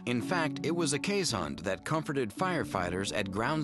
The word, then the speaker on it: Keeshond: it looks like he town but the proper pronunciation is K hun affectionate friendly and so famous for clinging to